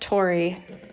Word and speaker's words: Tori: for scottish names well my name is just tori like the england party tory spelled the same i don't have a